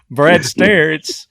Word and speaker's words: Stair: I've been saying Me too. Brad Stair. It's Brad Stair with Performance Rifles, also Tejas Rifles.